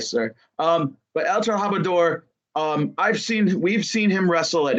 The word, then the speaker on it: El Trabajador: It's El Trabajador. Okay, El Trabajador. I am sorry if I mispronounced that.